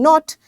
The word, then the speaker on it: knot: Knot, knot, you know, when you tie something, knot. So this K is again silent.